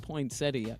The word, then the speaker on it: poinsettia: though nobody says that there's a debate and I think it's listed both ways are acceptable but it is spelled poinsettia you're right about but I don't like that pronunciation I don't either I